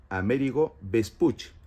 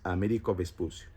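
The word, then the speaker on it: Amerigo Vespucci: así por Américo vespucio Es cierto que Américo vespucio no se dice así en su idioma original como er es como él es Florentino entonces su nombre es amérigo vespucci pero castiano es Américo vespucio se cree que Américo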